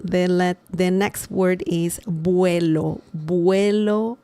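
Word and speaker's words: vuelo: The the next word is buo. Buo remember the v sound in Spanish is similar to b as in bell.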